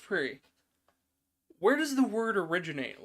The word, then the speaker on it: Prix: I said Grand Prix. It's pronounced Prix.